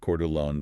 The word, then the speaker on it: Coeur d'Alene: But then, you pull the local data for Coeur d'Alene, Idaho, and it's pronounced Coeur d'Alene for those of you examining this market from the outside, and the reality on the ground absolutely shatters that national narrative.